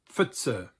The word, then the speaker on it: Pfütze: Die Pfütze, that's a puddle.